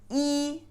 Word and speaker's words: 一: But itself, when it's pronounced alone, is E is first tone, E.